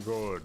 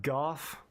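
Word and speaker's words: Gough: Very good. That kind of sounds like the the go voice, which is how you say his name, by the way. It's not Gooff.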